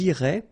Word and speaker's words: iraient: if you look carefully, you get A-I-E-N-T, okay? But then phonetically, it goes like E, okay? So, technically, these form and these forms here are pronounced the same way, and it goes like irait, okay?